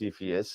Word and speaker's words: Cepheus: what's the C in in insiphius it's actually pronounced CPS and I actually looked it up yeah it